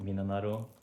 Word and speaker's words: 3776: In Japanese, it's pronounced Minanaro, so that's what they're called.